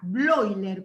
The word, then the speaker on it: Bleuler: Bloiler, como Freud se escribe Freud, y se pronuncia Freud, los nombres alemanes que van, o los sustantivos o palabras que van EU, se pronuncian hoy.